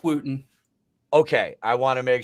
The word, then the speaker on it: Wooten: that is our guest for the evening Wooten am I saying it right Wooten yeah Wen okay I woen you know I've heard I've heard all of them under the Sun but it's Wooten okay I want to make sure because you